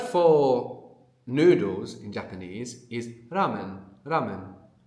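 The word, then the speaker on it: ラーメン: So, this is the Japanese R, right? So, it's going to be between an R and an L.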